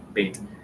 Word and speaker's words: Beth: talking about the letter bait no fun fact if you ever drive by a um uh a synagogue and you see the Beth L that that's that's B dead bait it's pronounced bait the the word L